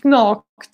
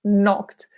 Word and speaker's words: knocked: Be careful, we have a silent K. Yeah? We do not pronounce, it's not knocked, it's knocked.